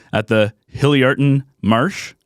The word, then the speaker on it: Hilliardton: this name at the hilly arton Marsh is that is that how you say it Bruce it's pretty close hillerton okay I've never I'm